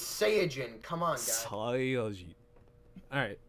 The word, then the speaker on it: Saiyajin: Well, it's pronounced science, so there's. Cyan. Yeah. Well. Alright, fair enough. It's Saiyajin.